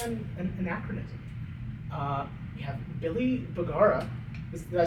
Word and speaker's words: Bugara: It's like, bugara is like the actual probably like way that it would have been said in Italy. You know. 5 steps ahead, 2 steps backwards. Well, yeah, my family always pronounces it bugara because I think we just Ohioified it.